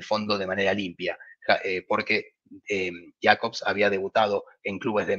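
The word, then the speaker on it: Jakobs: Jacobs, en realidad se pronuncia Jacobs, que era un central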